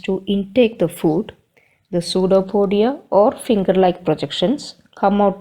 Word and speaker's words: pseudopodia: pseudopodia how it pronounced pseudo podia spelling is p s e u d o p o d i a but this p is silent and we pronounced as